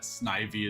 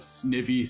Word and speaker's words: Snivy: he he he looks he's a snake made of ivy. So I understand it's supposed to be pronounced snivy but snivey sounds better so I don't care.